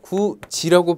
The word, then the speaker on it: 굳이: 자, 구지라고 발음하죠. 디귿과 이가 지읒으로 만나 변했습니다.